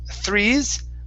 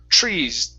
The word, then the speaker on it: trees: Now here you were saying threes, like a Spanish T. It's trees. Pronounce the TR like a CHR.